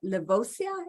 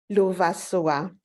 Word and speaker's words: Lovasoa: Levosia, is that how you say it? Levosoa? Lovasoa. Oh my goodness, I was way off.